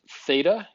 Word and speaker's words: theta: 0 with a line through it it's actually pronounced theta it is the Greek letter theta it is commonly used as a variable name